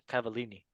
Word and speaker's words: Cavallini: Cavallini.